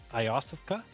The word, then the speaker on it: Iosefka: Well, yeah, I know how to spell it too. Yosefka? Yosefka.